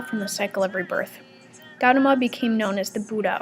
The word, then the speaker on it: Gautama: a man named said her that guatemala how do you say that hold on all right i looked it up it's gautama um he taught that